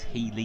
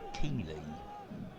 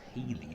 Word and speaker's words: Healy: And his name's Healy, not Keeley. So it's Healy that's come on for Dover, wearing the number 26 shirt.